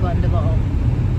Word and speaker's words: Glendalough: And then I think later this afternoon we're going to go to Glendalough. Am I pronouncing it correctly? Yeah. Glendalough State Park.